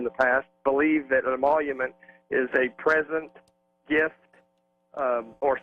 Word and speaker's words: emolument: Byron Henry, my next guest, attorney and constitutional scholar, who thinks the Trump presidency could be in trouble, though, from emolument, the Emolument Clause.